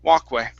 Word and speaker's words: walkway: instead of wall walkway the l is silent walk walkway walk away okay now